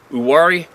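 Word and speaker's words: Uwharrie: too far from the uwari forest the H is silent but that makes it easier there are quite a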